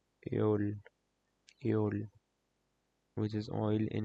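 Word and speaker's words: Öl: pronounced asol EOL AOL you can replace the o with the EO then you will get the correct pronunciation EOL EOL which is oil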